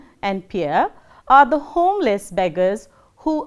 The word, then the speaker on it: Pierre: The next one is Pierre, which is pronounced as Pierre, as in we say deer.